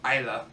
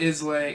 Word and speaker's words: Islay: the remote island of Isla spilled is la why not is lay its Isla in the Western Isles